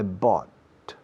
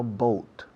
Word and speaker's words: bought: Fijaos en la pronunciación. Bought, no boat. Bought, caught, taught, thought, brought, fought, taught, caught, caught. Es un sonido de vocal que no existe en castellano, pero no es difícil dominar.